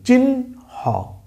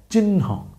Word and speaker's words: চিহ্ন: হয়েছে কে দন্ত ন কিন্তু উচ্চারণ করার সময় আপনি খেয়াল করেন লেখার সময় কিন্তু আমরা আগে আছে কে হ কিন্তু পরে আছে কে ন আর উচ্চারণের ক্ষেত্রে আগে আমি কি উচ্চারণ করতেছি একটু খেয়াল করি চিন হ চিন হ উচ্চারণের ক্ষেত্রে আগে আছে ন আর পরে হালকা করে আছে হ চিহ্ন চিহ্ন ঠিক আছে তার মানে